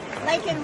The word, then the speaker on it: Laken: Laken Riley.